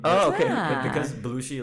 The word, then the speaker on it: Bloushi: it's my last name oh okay but because blue she like i spell it with a b-l-o-u-s-h-i it's taken yes so